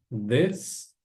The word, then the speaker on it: this: Lembrando, né, da particularidade lá do TH, que a gente precisa colocar a língua entre os dentes no som do TH bem sutilmente. Então a pronúncia vai ser this.